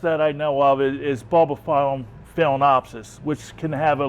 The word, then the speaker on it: Bulbophyllum: This is Bulbophyllum, excuse me, is the correct pronunciation.